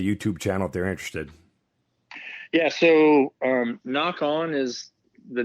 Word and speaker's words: Nock On: essentially my brand and it's spelled n Ock so the same way you spell arrow knock which is what clips on the string uh-huh and so it's n o ck o N and if you